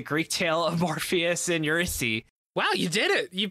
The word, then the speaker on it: Eurydice: It has a lot in common with the Greek tale of Morpheus and Eurydice. Wow, you did it. You pronounced Eurydice right.